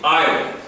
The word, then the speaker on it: island: The island, not Iceland. If you're going to visit Iceland, that's a whole different matter. Island. So there's no S. The pronunciation, I, Len.